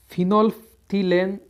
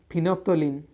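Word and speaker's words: phenolphthalein: फिनोल्फ्थिलेन, इसे इंग्लिश में बोलते हैं फिनोप्थोलिन और हिंदी में बोलते हैं फिनाल्फथेलिन। एल है वो साइलेंट रहता है इसमें।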